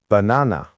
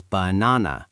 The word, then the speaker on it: banana: Banana. Wrong. No native says banana. We say banana. The first a is lazy. The last a is lazy. Only the middle one is strong.